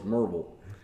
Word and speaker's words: Maryville: It's like in Tennessee, Maryville is Merville, right? And if you're from there, it's just Merv.